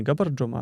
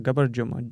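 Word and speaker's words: Боржоми: И поэтому я тоже привожу в пример то, что в Грузии, например, Габарджома. Не Габарджома, а Габарджома. Дже, как Джичбур, собственно.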